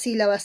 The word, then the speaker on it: sílaba: Tú dices sí, la, va. Muy bien, 3 sílabas, hijito. ¿Y te has dado cuenta que hay una mayor fuerza de voz? Y está muy notorio porque hay una tilde de por medio. ¿Y dónde está la mayor fuerza de voz? Profesora, está en sí.